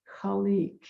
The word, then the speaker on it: Khaliq: and it's yah leek it's spelled k h a l i q and pronounce colleek it's wonderful uh that